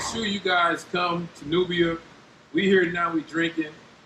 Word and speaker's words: Nubia: again nubia hear it how do you spell newbie how you spell that uh n-u-v-i-a n-u-b-i-a nubia like the nubian queen hey make sure